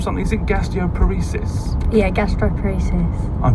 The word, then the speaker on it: gastroparesis: you suffer from something sick Castillo paresis yeah gastroparesis I pronounced it right yeah yeah brilliant and what